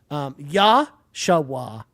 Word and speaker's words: Joshua: And Joshua, or as Joshua put in his name, Yashawa was the pronunciation guide that Joshua provided for his name.